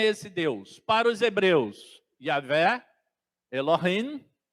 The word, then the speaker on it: Yahvé: Eu estou pronunciando como se pronuncia em hebraico mesmo, tá, irmãos? Porque o J em hebraico, aliás, essa letra nem existe no hebraico, tá? Ela tem o som de I, tá?